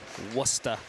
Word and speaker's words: Worcester: We did our quick pregame checks on internet speed, and Worcester knows how to do it. Worcester, sorry, I keep saying it wrong. I think they answered almost anything, but it is Worcester.